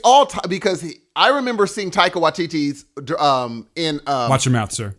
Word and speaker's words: Taika Waititi: It's Taika Waititi. It's all because I remember seeing Taika Waititi's in Watch your mouth, sir.